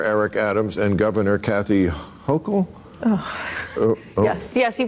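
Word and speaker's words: Hochul: of how mayor Eric Adams and Governor Kathy hokel oh yes yes you pronounced it right I take it you're a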